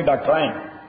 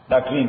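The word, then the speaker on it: doctrine: ملکا ڈاکٹرین of necessity سو دا لفظ پرونانس کے ڈاکٹرائن صحیح برٹش والا ای ڈاکٹرائن ہوئی دلتے ڈاکٹرین ہوئی سپیلنگ یہ ہو دے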